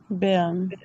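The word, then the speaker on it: Bern: بيرن. بيرن. بننطق الار خفيفة. ما بيبقاش عندنا ضمير قوي واحنا بننطق الار وهي في اخر المقطع، بخاصه لو كانت في اخر الكلمه او حتى لو وراها ساكن او ساكنين مش مشكله.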